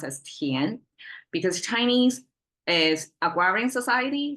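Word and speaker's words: 田: Chinese tian, pronounced as tian, because Chinese is agrarian society, so land zoning,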